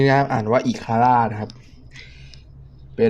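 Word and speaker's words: Ikara: นะ ครับ อาวุธ ชนิด นี้ นะ อ่าน ว่า อีคาร นะ ครับ เป็น ขี วุฒ อิค ครับ เป็น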